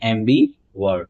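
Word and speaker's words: ambivert: अगला वर्ड है एम्बी वर्ड, इसकी प्रोनाउंसिएशन होती है एम्बी वर्ड।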